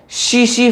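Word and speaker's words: tsetse: काम कौन करता है, शीशी फ्लाई, शीशी, टस टस, जो बोलना चाहो बोल देना, टीएससी, टीएससी, ठीक है, यहां पर टी साइलेंट करो तो शीश, ठीक है।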